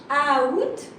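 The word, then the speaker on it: août: But you are not pronouncing the A. Okay, so you should pronounce it out, and some of us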